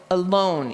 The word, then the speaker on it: alone: Like if you think of the word alone, so alone, you know that the second syllable is the one that's accented because your chin went down, alone.